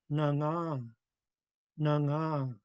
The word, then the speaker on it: nanga: So it's going to be nanga, nanga. You could really hear the tone mark at the end.